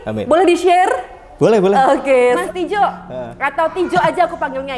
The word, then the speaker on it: Tijo: Cuma karena mungkin aku orangnya retro banget, jadi mengilhami ejaan lama yang belum disempurnakan, makanya Y-nya ganti J, Tijo.